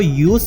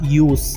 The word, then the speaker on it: use: तो हम इसको यूज प्रनाउंस करेंगे, यूज प्रनाउंस नहीं करेंगे, यानी कि एस साउंड के साथ यूज।